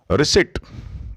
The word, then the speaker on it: receipt: Receipt. This is receipt. P is silent here.